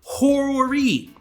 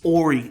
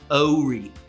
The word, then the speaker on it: Horry: And if you really want to get it the way a local says it, it's actually pronounced Horry. The H is silent, just like in honest.